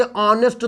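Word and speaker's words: honest: करना है आपको उच्चारण किसका करना है आपको उच्चारण इस एडजेक्टिव का करना है तो एडजेक्टिव को जब लिखोगे ऑनेस्ट तो बताओ अन से शुरू होगा यानी राम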